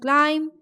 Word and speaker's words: climb: So B in climb, B in dumb, B in calm, and B in numb. Everywhere B is silent.